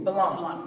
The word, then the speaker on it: Blanc: Actually, myself, I'm Blanc. I'm Adrienne Harris. You, who? Blanc. Blanc. Yes. French. French. Blanc. The C is silent.